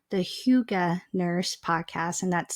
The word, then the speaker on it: hygge: friend Rachel Zimmer on her podcast called the Huga nurse podcast and that's spelled h y g g it is a